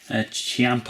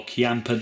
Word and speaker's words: Ciampa: Here's Andre the Giant Hall of Fame card and Tommaso Ciampa or Chiampa, depending on if you're from Italy or not, how you pronounce his name.